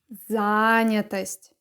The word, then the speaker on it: занятость: Next word . How do you say it? Great, . We have [a] here, too.